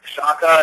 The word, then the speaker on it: Shaka: Well, officially it's called Shaka. It's spelled S-H-A-K-A, but a lot of people refer to it as like hang loose.